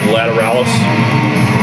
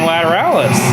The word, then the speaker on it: Lateralus: yeah what was it for the longest time we said lataralis what is it well you told me what it was i'm still saying lateralus i am too but